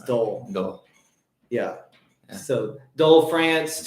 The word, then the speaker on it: Dole: how you say it it wasn't delay it was dole no yeah so dull